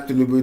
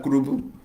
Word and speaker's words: Tinubu: Mama no fit pronounce Tinubu, they call it Kurubu.